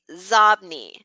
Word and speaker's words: Xobni: Okay, XOBNI. It's Zobni. What does Zobni mean? It's inbox spelled backwards.